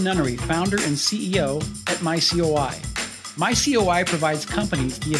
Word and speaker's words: myCOI: those not familiar with your company's name it's pronounced my COI and not my koi you're not involved with big fancy goldfish correct